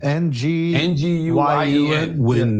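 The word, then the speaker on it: Nguyen: Alex Och and George Noin. How you pronounce it, Chris? It's a Vietnamese name. NG win is the closest.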